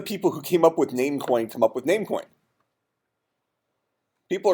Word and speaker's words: Namecoin: they come up with it's not num coin it's namecoin why did they come